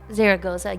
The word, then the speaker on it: Zaragoza: where we were where what Sara saraga zaga Zaragoza yes that was really fun I love that